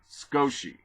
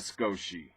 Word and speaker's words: Sochi: That's pronounced, or spelled rather, S-O-C-H-E. Sochi, I'm going to call it.